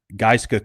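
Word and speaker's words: Gaizka: uh Giska Crowley uh football GM and that's so it's spelled G- AI ZKA but it's like GISA like ice giska giska crowley um senior will CJ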